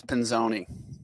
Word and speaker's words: Pinzone: how do you say it? If you want to be really it's Pinzone. Pinzone.